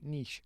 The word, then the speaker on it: niche: Niche yes that's right that's how you pronounce it Niche not Niche Niche I'm losing my trailer